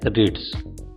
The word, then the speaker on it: REIT: REITs real estate investment trust या REIT, जिसका उच्चारण है रिट्स।